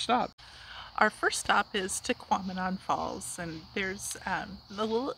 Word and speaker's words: Tahquamenon: right exactly so it it rhymes with phenomenon so if you think of phenomenon to quamanon that's right and my